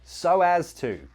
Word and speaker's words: so as to: Maybe let's change this to so as to. Pronunciation. Notice we've got connected speech there. So as. We link those two with a w sound.